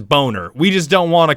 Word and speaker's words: Boehner: who's that politician chat John Boehner we know his name is boner we just don't want